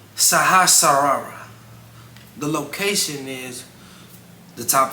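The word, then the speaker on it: Sahasrara: in at number seven we got the crown chakra which is better pronounced the saharara the location is the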